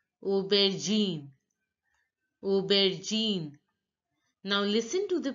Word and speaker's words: aubergine: speaker to pronounce accurately again carrot eggplant is pronounced as Uber Gene Obed Gene now look a you a sound is pronounced as o o ER is pronounced as in in so it becomes Uber Gene aubergine Uber Gene now listen to the pronunciation